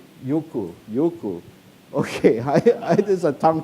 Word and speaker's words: Eyjafjallajökull: How do you pronounce it? Eyjafjallajökull. Jökull.